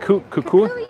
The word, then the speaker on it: Kukui: Kukui nut.